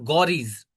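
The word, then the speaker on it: Ghorids: इसको प्रोनाउंस करेंगे आप गौरीज।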